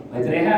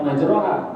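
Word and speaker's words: مَجْرٰىهَا: Bismillahi majre wa in majreha kan bacanya bukan majrah bacanya majre itu masyhur ya masyhur itu artinya UD udah maklumlah kita ini ketika ketemu ayat Bismillahi bacanyaereha wur itu dibaca imalah ya alazizaziz yang maha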